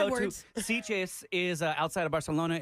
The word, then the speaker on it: Barcelona: Conozco a Barcelona.